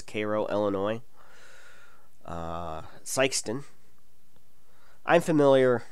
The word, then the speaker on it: Cairo: lot of metropolis Koo I know it says Cairo but the proper local pronunciation is Koo Illinois uh syon I'm